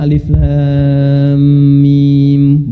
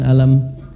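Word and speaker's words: الم: benar Tahu dari mana bacanya Alif Lam Mim bukan alam karena dengar kan Nah orang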